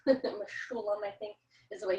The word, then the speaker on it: Mechoulam: And so they discovered, they meaning Raphael Mechoulam, Mechoulam I think is the way you pronounce his name.